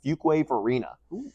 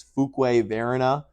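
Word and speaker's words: Fuquay-Varina: Carolina since 2005 lived in a town called fuk wave Arena some people um pronounce it as fuk veren it's yeah no because it's spelled Fu quu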